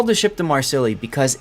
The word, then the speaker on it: Marseille: Yes, it's pronounced Marseille. Yes, I understand how to pronounce it. Okay? But we call it the Marsilli because of just how darn silly it is.